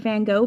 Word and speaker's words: Van Gogh: that you I I like that you said Van Gogh because that is the correct pronunciation no matter what your British but it's